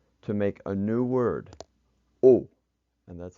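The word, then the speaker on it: au: new word which is oh and that's pronounced just like the top one oh that X on the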